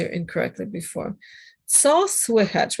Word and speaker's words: słychać: Okay, so the ch on the end is like a soft ch, right?